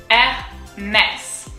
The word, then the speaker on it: Hermès: But to go back to Hermès, we have the accent grave. So it goes Hermès. And then at the end, there is an S.